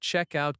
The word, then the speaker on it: check-out: Notice that check-out can be two words, and the stress is on check.